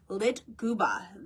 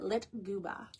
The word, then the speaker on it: lyktgubbe: So the Swedish believe the floating lights are called Litguba. That is spelled Lyktgubbe. And I had to go online to like know how to pronounce it. Litguba.